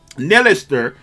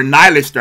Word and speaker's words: Nihilister: And if this girl is the strongest out of, you know, her, Modernia, and Nilister, right? Or Nihilister, I guess that's how you say it. Her name is actually Nihilister, right?